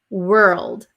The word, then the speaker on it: world: on this word actually world world so w it becomes an r were and if it's difficult to